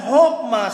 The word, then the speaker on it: chokmah: Chokmah spells C-H-O-K-M-A-H. But, it is pronounced as chokmah.